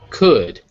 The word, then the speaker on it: could: things this one is could as in could the L is silent in that word this one has a